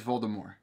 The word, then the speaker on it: Voldemort: Griffin they're all right just like he says Voldemort cuz that's the proper way to say it I think JK Rowling did she officially say that silent T yeah so and it comes it